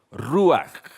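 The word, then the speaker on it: רוח: ¿Saben cómo se dice el espíritu de Dios? En hebreo, ruaj.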